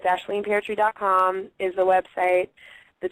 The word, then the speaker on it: Aisling: a hard name but it's pronounced ashleen you're saying it right thank you because people say wrong all the time but it's the first